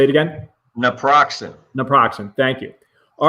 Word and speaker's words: naproxen: that okay so that's right say it again naproxen naproxen thank you all right that's approximately how